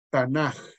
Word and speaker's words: Tanaj: Nada más que en hebreo, cuando la letra K viene al final de una palabra, no se pronuncia K, sino se pronuncia J cuando va al final. Entonces, por eso se pronuncia Tanaj.